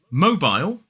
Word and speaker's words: mobile: If you said mobile, well done. That's how we say it in a modern British RP accent. Mobile. 2 syllables, the stress is on the first. In American English, it's more like mobile.